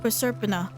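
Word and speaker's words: Proserpina: Presurpina, that's how you say it.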